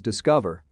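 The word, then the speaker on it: DSCVR: the second app is discover not spelled in the way it is pronounced it is a decentralized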